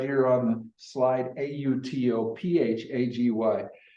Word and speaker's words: autophagy: A lot of people would like to pronounce it Autophagy. autophagy, because that's what it looks like. Exactly, autophagy. Well, if you're in England, that's the way they say it.